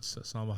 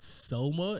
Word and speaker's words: Salma: My favorite thing about Salma Hayek's character, and I always have said her name wrong. I'm looking at it right now. It's not Selma. It's always Salma, and I've said that